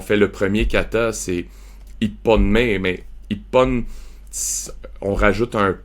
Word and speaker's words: Ippon: En fait, c'est I-hon, mais ça devient Ippon. Fait que tu rajoutes un P, mais il n'est pas vraiment... Il est muet, le P, dans le fond. Oui, mais on doit le prononcer. Mais en tout cas, fait que tu sais, c'est Ippon, Nihon, Sanbon.